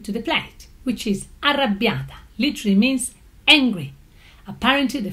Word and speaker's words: Arrabbiata: out of Italy is a certain Arrabbiata, which is supposed to be pronounced Arrabbiata. It's got 2 R's, it's got 2 B's, also in the spelling, not just in pronunciation.